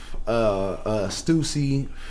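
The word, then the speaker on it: Stüssy: I think it's the line. He puts a line over the U, yeah, so it's you have to pronounce.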